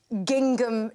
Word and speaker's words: gingham: I'm wearing a full-length gingham dress. OK. I like the way you sounded the second G.